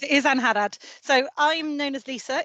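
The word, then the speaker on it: Angharad: So we have Ankarad, I want to say Ankarad. I was just about to say Hina, is it, or do you want me to pronounce it? But you're correct, it is Anharad.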